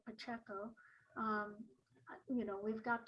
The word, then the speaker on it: Pacheco: the democrat and paul pacheco that's how he pronounces his name looks like pacheco um you know we've got time to do